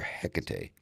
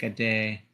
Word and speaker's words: Hecate: Uh, Yeah, but I mean that's more of like a Spanish pronunciation, like Tecate, like the beer.